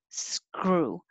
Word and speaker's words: screw: at the same time sk screw screw and pull your tongue down so your tongue has room to curl back without touching screw if it touches screw but it'll make a little extra noise screw and 27 i